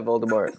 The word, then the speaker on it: Voldemort: Yeah, Voldemort.